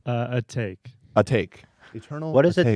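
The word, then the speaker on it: Atake: that in you know this is pronounced a take a take what is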